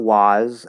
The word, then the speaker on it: was: glad you asked this in those words there is no ah there it's not was and what that's not how those words are pronounced they're spelled with a's but they are never pronounced that way that's not how we say those words in these two words was and what the sound is uh it's the sound like in the cup vowel right uh um so